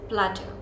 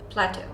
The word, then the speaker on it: plateau: and geography a lot it's not CL it's Plateau Plateau it's that simple just Plateau now most of